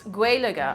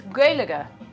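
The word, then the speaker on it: Gàidhlig: not the actual name of the language it's guelica I'll spell it Alfie um just spell that right sometimes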